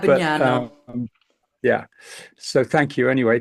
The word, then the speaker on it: Abbagnano: It was just on the wrong syllable. So, Oh, but it was remarkable actually, considering how difficult a name it is to pronounce. It's Abbagnano, but Abagnano.